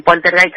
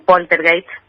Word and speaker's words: poltergeist: Bueno, poltergeist porque es una palabra, un vocablo alemán, ¿no? Generalmente lo conocemos como poltergeist, pero, Sí. pero se pronuncia poltergeist.